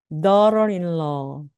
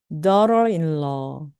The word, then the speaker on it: daughter-in-law: 마찬가지로 앞에 있는 daughter 할 때 턱을 뚝 떨어뜨리시고 GH 발음 묵음입니다. 자, 다시 한번 두 번 따라해 보시겠습니다. daughter-in-law, daughter-in-law.